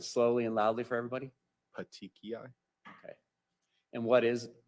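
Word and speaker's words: petechiae: and if you can't that's fine I but pronounce it slowly and loudly for everybody patii okay okay and what is patii uh it's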